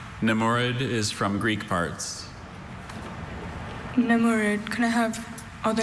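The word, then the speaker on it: nemourid: Namurud, can I have all the information again, please?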